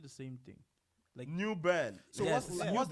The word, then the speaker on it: New Bern: New burn. Yes. So, what's the What's the correct pronunciation It's It's newborn. Uh like like you're saying earn like u r n, but it's newborn.